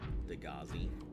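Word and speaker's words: Degasi: Like so obvious that Degassi is pronounced Degazi.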